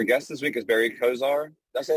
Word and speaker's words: Coziahr: this week is Barry Kozar that's right Kozar or Cozier it's because I heard it rhymes with desire desire okay our guest this week is Barry khizire he's a Serial entrepreneur